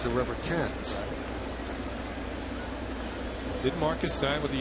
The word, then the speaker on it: Thames: Eric says his name is pronounced Thames.